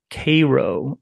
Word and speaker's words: Cairo: And there's another city, of course, north of Memphis in southern Illinois called Cairo, is how they pronounce it, but it's spelled like Cairo.